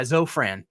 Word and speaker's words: Zofran: is an F Zofran maybe not but yeah Zofran is how it's pronounced and uh yeah I remember my wife